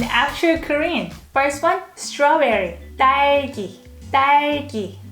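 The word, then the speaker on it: 딸기: korean first one strawberry daiki this is double d consonant so you have to pronounce it let's go pick some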